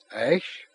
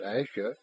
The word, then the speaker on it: Ash: Ash, not Ashia, but Ash.